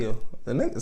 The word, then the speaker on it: Peele: The E is silent. Peele.